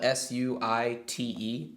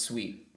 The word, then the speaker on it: suite: would be suit but with the E there it for some reason it's pronounced sweet but it's the it's